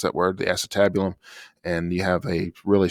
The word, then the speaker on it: acetabulum: called the acetabulum so with that how you pronounce that word the acetabulum and you have a really strong bone that